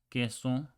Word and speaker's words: queso: Quito, queso, equipo. Quito means like to take away. Queso means cheese. Equipo means team. Okay, so it's pronounced just like a K in key.